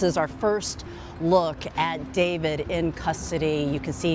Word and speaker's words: d4vd: David, pronounced David, gained popularity among young fans for his blend of indie rock, R&B, and lo-fi pop.